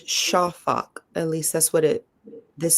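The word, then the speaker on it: שָׁפַךְ: It's spelled S-A-P-A-K, and it says pronunciation is shafak.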